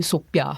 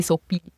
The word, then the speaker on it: Sofie: But my Malay relatives do call me Soapi because a lot of Malay cheats can't pronounce the F. And so the F becomes a P and so they call me Sophie.